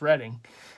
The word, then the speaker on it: Reading: Market and it's reading some people say reading because it's spelled like reading but it's reading uh Mar there's the